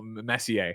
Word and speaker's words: Messi: Twitch chat went on fire when I said Lionel Messier.